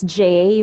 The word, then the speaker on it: Jaiei: moment okay well okay my name is Jay pronounced it correctly there are a lot of vowels in my name that's Jay a ie but we could do away with 75% of that I am an audiophile